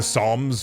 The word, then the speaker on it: Psalms: The Psalms puff. That would only that would only work a literatively if you if you pronounced the P in Psalms.